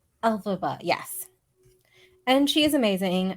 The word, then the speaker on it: Elphaba: Alphaba. Elphaba, yes.